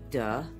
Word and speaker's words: dejectedly: It's got four syllables, guys. Dejectedly.